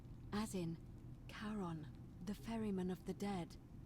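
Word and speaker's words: Charon: okay foreign all right you're here you your pronunciation is a little off the name you heard wasn't karen it was c h cody r o n as in caron the ferryman of the dead karon who in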